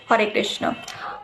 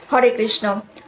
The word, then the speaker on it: হরে কৃষ্ণ: এই প্রশ্নেরই উত্তর জানবো, পাশাপাশি আরও জানবো মন্ত্র অর্থ কি, হরে কৃষ্ণ মহামন্ত্রের অর্থ কি এবং এর সঠিক উচ্চারণ কোনটি, হরে কৃষ্ণ নাকি হরে কৃষ্ণা? হরে কৃষ্ণ।